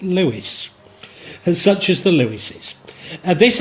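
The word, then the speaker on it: Leveson: skillful marriages such as and it written lon's and before I've said it called it Lon I believe they pronounce it Lewis such as the louises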